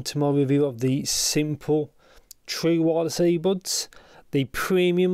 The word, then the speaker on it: Smpl: really on the sides simple audio smpl is how it's spelt now this is where